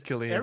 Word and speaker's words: Cillian: It's Cillian, but everybody pronounced it different.